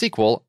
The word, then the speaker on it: SQL: It's SQL. I looked it up after we recorded the last ad. That's how I knew how to say it.